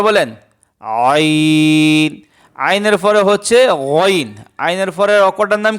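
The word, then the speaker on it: غين: গইন অক্ষরটা হলকের শেষ ভাগ হইতে, গলার শেষ ভাগ হইতে, হলকের শেষ ভাগ হইতে গইন অক্ষর উচ্চারিত হয়। শেষ ভাগ থেকে গইন অক্ষর উচ্চারণ করতে হয়।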